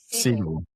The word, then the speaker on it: Segel: Segel Segall? Segel.